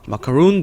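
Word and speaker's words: macaroon: 그 마카롱이랑 비슷한 발음이지만 영어로 읽을 때는 어떻게 읽을까요? 마카룬 돼 있죠. 같이 한번 읽어볼게요. 시작. 마카룬. 다시 시작. 마카룬. 네. 해서 우리나라 말로는 마카롱이라고 하죠. 하지만 영어로는 마카룬이라고 한다는 거 요것도 알고 계시면 좋을 듯 하네요.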